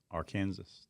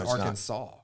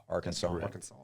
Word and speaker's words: Arkansas: Do we know why it's not our Kansas?